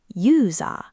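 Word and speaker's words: ユーザー: Long English vowels come back as one long dash, the chol-ompu. Server is saba. User is yuza.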